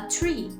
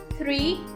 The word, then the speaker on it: three: Lembrando que muita gente fala, teacher, é a mesma coisa que 3, só que o 3 tem um H. A pronúncia também muda. Three, tree. Three, tree. Aqui, o 3 tem aquele sonzinho chato, né? Que os alunos adoram do TH, que é a língua entre os dentes.